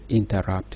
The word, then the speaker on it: interrupt: by one accented one the word interrupt illustrates this are two syllables that are unstressed followed by wrapped that is stressed true cake pattern has